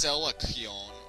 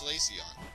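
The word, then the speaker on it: Solaceon: salaon ruins yeah caon for those of you think it's celon or Sal I don't know how else would you pronounce this it's caon uh Stupid hiker he's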